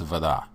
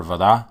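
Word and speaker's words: вода: In Russian, it's voda. Voda. Okay? So we have three letters, A, B, V. And now you have a word, voda. Voda. Notice that the syllable stress for voda is on the end.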